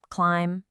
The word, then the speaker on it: climb: On the left, if M is followed by B, the B is silent. Bomb, climb, comb.